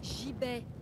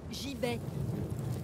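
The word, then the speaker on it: gibbet: Ça se dit Jibet. Quoi? En fait, ça se prononce Jibet.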